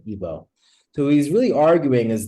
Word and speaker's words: Igbo: it went to ebo then it went to Igbo right g is silent ebo so he's really arguing